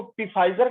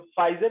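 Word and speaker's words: Pfizer: अब तुम मुझसे पूछने जाते हो कि तुम इसको पी फाइजर कहना पढ़ते हो, फाइजर क्यों पढ़ते हो? पी साइलेंट ही करना था तो लगाए क्यों?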